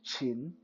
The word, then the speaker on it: Qin: Uh, because the actual pronunciation of that kingdom in Mandarin is Qin.